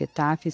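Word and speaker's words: את: Esse Aleph Taf você pode ler Et.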